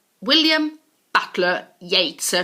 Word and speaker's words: Yeats: gaol like in the old times but it's pronounced jail move on to william butler yeats william butler yeats ER not eats or yeh stir or yester